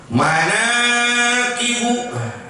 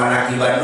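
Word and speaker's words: مناقب: Manakibu. Begitu cara bacanya. Jangan manakiban dulu, kalau mau dibawa bahasa Arab bacanya manakibu.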